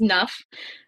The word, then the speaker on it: NUFP: own words what is enough program so you're probably wondering what is nuff um the p is silent so it's naspa undergraduate